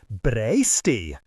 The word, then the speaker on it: breastie: My brothers only recited it to have an excuse to say breastie, which they did not pronounce in the Middle English way, braisty.